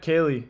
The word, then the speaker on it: Kaylee: Speaking of that, we might, Kaylee, my sister, her name rhymes with Haley and starts with a K.